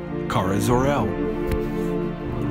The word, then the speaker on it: Kara Zor-El: zor-el pronounced Kara zor-el wiped from existence in the mid 80s during